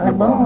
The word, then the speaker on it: Lebong: Lebong ya dibacanya Lebong.